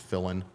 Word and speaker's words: Filin: last name pronounced Fillin um as I shared earlier fill in the blank but one L I wrote uh so